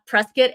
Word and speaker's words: Prescott: you know it's so funny because I've always pronounced it Prescott Arizona but I am from the south so